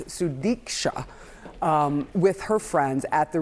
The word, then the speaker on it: Sudiksha: The stills show Sudiksha Konaki, sorry I said her name wrong, it's Sudiksha, with her friends at the Rio Republic Hotel in Punta Cana on Thursday morning.